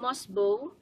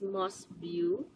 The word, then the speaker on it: Mosbeau: advanced food supplement news is failing promotion it pronounced as must bow but sales ladies are what saw sales ladies ASM they pronounce it as most view so if I don't be following along opinion